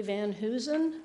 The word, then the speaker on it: Van Heusen: hello my name is Van Heusen rhymes with Susan and I'm here as